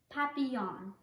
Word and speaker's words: Papillon: like her neighbor's dog you say it like this Papillon in French it means